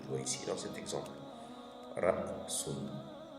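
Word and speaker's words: رأس: Donc, du coup, le son sera prononcé mais coupé au milieu.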